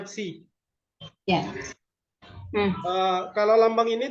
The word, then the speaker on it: psi: Ya, cara bacanya psi.